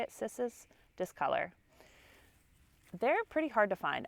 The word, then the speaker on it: Cissus discolor: This is a trailing Rex begonia or vining Rex begonia, and its actual name is Cissus discolor, I believe is how you say it, Cissus discolor.